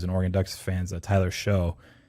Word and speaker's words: Shough: asked Bob, who's an Oregon Ducks fan, Tyler Shough, Shough. That's why I was trying to confirm with him pronunciation, which it sounds like I was right, but it's a little dangerous.